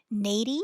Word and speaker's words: Neidy: attorney a trademark attorney Nady Hornsby and every time I say her name I want to say like lady Hornsby because that's how she